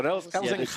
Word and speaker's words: Elzinga: Elzinga. I got it. Long A. Not long A. Elzinga. Yeah, the G is getting better.